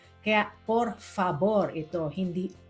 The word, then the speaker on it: por favor: Remember ang letter V na Spanish ay pino-pronounce na B. Kaya por favor ito. Hindi for favor.